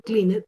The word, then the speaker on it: cleaned: Entonces, clean sería cleaned, cleaned, ¿cierto? Yo esa E de cleaned no la voy a pronunciar, ¿listo?